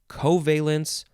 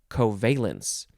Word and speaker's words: covalence: noun from 1919 uh you can emphasize the first or the second syllables covalence or covalence it is valence characterized